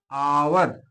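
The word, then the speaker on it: hour: अब देखिए आवर शब्द होता है, यहाँ हावर लिखा, एच ओ यू आर लिखा जाता है, लेकिन यहाँ पर जब उच्चारण करते हैं तो एच को साइलेंट कर देते हैं, और उच्चारण में क्या आता है? आवर।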